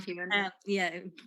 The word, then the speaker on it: Heughan: War II nurse, and she's playing opposite Sam Heughan-- is that how you pronounce that name? playing Jamie, your partner and later your husband